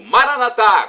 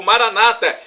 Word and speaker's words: Maranata: E agora, do aramaico, dialeto de Jesus, eu clamo, Maranatá, como dizemos nós católicos, ou Maranata, como dizem nossos irmãos separados, os protestantes ou evangélicos. Não importa a pronúncia, somos todos irmãos e cristãos.